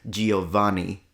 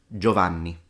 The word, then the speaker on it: Giovanni: couple of exceptions, like there are situations in which the I, we write it, but we don't pronounce it. For example, the word Giovanni, which in fact every foreigner tends to mispronounce Giovanni. It's Giovanni. The only reason why the I is there is because without it, I would read it Govanni.